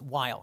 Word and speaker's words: Weill: as American as possible he changed the pronunciation of his last name not the spelling but now it's while he's Kurt while he spoke German as